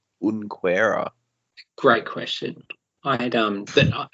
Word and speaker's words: Junqueira: Yeah, no, I think the proper Brazilian pronunciation is Junqueira, but Or is it a silent J, like Unquera?